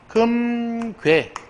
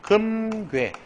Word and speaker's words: 금괴: 금괴 이렇게 발음하는 게 맞고 표준 발음이고 그 다음에 얘는 뭐예요? 금괴 마치 우어 이로 발음하는 이게 이중모음이 발음이 돼요. 이중모음 여기 허용합니다.